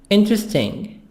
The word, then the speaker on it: interesting: debate seven boring boring interesting e silent interesting this e the letter e after t is silent interesting here interesting bus